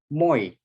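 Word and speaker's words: мой: Kalau yang pertama, yang huruf I nggak ada garis di atasnya itu ini dibacanya Mayi. Nah, yang ini Moy. I-nya jadi lebih panjang, jadi Moy gitu.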